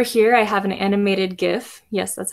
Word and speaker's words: GIF: Over here, I have an animated GIF. Yes, that's how it's pronounced.